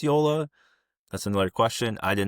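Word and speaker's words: Joola: You put the J there. How are we supposed to know? It's pronounced as a Y.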